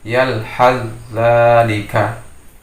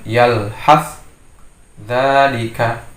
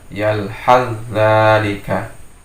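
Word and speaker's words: يَلْهَثْ ذَٰلِكَ: Membacanya yalhazalika ya. Jadi bukan yalhaz dzalika, tapi dia langsung ke za, yalhazalika.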